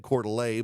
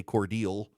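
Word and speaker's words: Cordele: So she went to what in Illinois is Coeur d'Alene and said Coeur d'Alene, but in Georgia we say Cordial.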